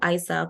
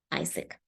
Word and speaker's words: AIESEC: just a word and the people that usually mispronounce it and as a I say go Isaac or something of a sword however it's just pronounced as Isaac so basically or what